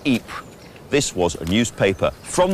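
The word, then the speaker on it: Ypres: called the wipers times wipers being how British troops mispronounced eat this was a newspaper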